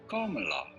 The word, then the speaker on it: Kamala: How do you go about pronouncing her name? Her first name in particular? kɒmɑːlɑː.